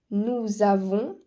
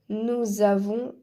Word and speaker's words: nous avons: et le avons donc on dit le S mais comme un Z comme chez vous avez vous entendez nous avons vous avez il ell